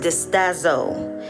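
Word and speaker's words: διστάζω: The word doubt in the Greek that's used in the Bible is pronounced distazo.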